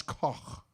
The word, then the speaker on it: Koch: Instead of Koch, Koch, Koch, Koch, Kichi, Koch. Doesn't matter what I do, people are going to say it wrong.